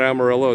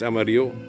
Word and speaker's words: Amarillo: It's not Amarillo, it's Amarillo.